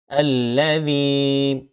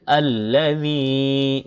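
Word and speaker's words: الَّذِي: এরপর আল্লাযী, জি জিহ্বার আগা সামনের উপরে দুই দাঁতের আগার সাথে লাগিয়ে জাল উচ্চারণ করতে হয়। তো জ জাল সা এই তিনটা অক্ষর, তো এই দা এইভাবে উচ্চারণ করতে হবে। আল্লাযী, জেরের পরে জজমা লাইয়া এক কালিপ টানো হবে।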